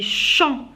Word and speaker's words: chants: Les chants. Alors chants, je ne prononce pas ni le T ni le S.